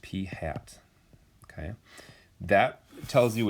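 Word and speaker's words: p̂: as p with that carrot on top it's pronounced p hat okay that tells you it's that that number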